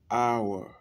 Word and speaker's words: hour: On dit an hour. An hour, bien que ça commence par une consonne.